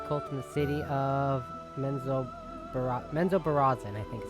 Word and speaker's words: Menzoberranzan: Raised by Lolth's cult in the city of Menzoberranzan, I think is how you pronounce it.